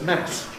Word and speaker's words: mass: the religious service but in the physical sense everybody says mass short vow.